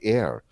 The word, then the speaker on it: Eir: to health and well-being there's the goddess heir e-i-r-s how you spell her name pronounced air when you call on